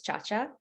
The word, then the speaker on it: Ciaccia: pronounce your last name yeah so officially it's pronounced as Cha-Cha Italian background however I always say this I